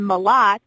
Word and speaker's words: Mlott: It's kind of like M-U, like ma, and then lot, L-O-T, or M-A-L-O-T, but it's M-L-O-T-T.